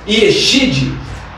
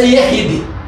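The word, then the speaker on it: יחיד: Yeshid se pronuncia Yehid.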